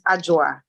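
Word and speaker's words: Adwoa: it's a j-u-a so even though it spells a-d-w-o-a you pronounce it with a J so it's ajoa or you can call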